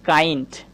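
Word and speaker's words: kind: যেমন ধরেন আমি বলতে পারি এই যে বানানটা একটু লক্ষ্য করেন। আমি লিখেছি কাইন্ড।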